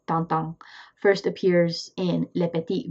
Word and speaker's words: Tintin: Then in 1929, the big guy hits: Hergé's bare J's TINTIN (pronounce tawn-tawn) first appears in LE PETIT VINGTIEME, but he's big enough deal were actually devoting the whole next episode to him.